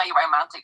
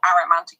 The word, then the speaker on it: aromantic: They're what's called aromantic, or aromantic is how I pronounce it.